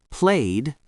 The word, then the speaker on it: played: Played. D sound.